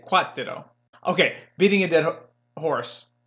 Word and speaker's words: cuatro: four in Spanish you don't try to smuggle the art don't say what what what to the role you know you're trying to smuggle that are sound from English into the Spanish town no just say quat ditto okay beating a dead